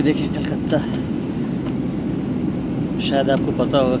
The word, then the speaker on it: कोलकाता: और अब कलकत्ता को कोलकाता बोलते हैं बंगाली में। मैं बार बार कलकत्ता बोल रहा हूँ, लेकिन इसकी प्रोनाउंसिएशन है कोलकाता।